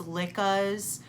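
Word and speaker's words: Lykke: If I had woods or those lickas, which for all of you who don't know, they are pronounced licka. I do know that for as bad as at pronunciations as I am, I do know that it's pronounced licka.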